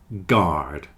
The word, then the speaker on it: guard: friend guard and guarantee guard and guarantee have a hard G and you don't pronounce the U guard guarantee hole sounds like